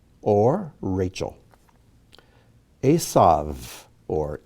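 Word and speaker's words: עשו: may be spelled out laban rahel or rachel asav or esau dinah or dinah again we have two words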